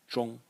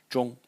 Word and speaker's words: 中: here, which is pronounced zhong. Has two pronunciations actually, but the more frequent one is zhong.